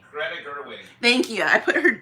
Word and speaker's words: Greta Gerwig: I don't think they were ready for what, is it Gerda? What is her name? Greta Gerwig.